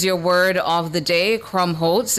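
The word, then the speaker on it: Krummholz: Crumb Holtz. Crumb Holtz. Crumbholtz. Crumb Holtz is your word of the day. Crumbholtz.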